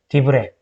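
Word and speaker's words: דברי: 얘 발음, 얘 장모음이죠. 왜죠? 디브레.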